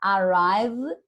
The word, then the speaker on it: arrived: A gente vai falar arrived. Arrived. A gente não vai ler esse E aqui, ó. A gente não vai falar arrived. Então, a maioria, vou colocar assim, ó. Aqui é como se fala, tá? Arrived. Arrived. Arrived.